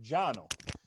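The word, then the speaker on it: Cano: was founded jono osgener okay c-a-n-o but it's pronounced giano jano was a turkish immigrant he was a turkish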